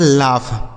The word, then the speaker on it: laugh: ठीक है, आगे देखिए LAUGH। इसे पढ़ा जाता है लाफ।